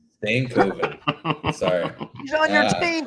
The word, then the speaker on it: Stankoven: may end up doing come on Matt we got to get you to pronounce that properly he's on your team for crying out loud stankoven there you go stankoven sorry he's on your